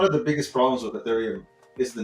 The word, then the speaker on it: Ethereum: got a lot of people who call it urethriam because they don't know what it is they've had a lot of spaces people just mispronouncing it but if you correct them